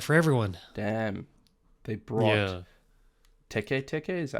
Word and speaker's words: Teke Teke: They brought Teke Teke, is that how you pronounce it? Yeah, Teke Teke.